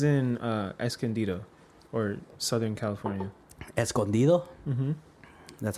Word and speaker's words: Escondido: news I was in Escondido or Southern California Escondido mm-hm that's how you say it by the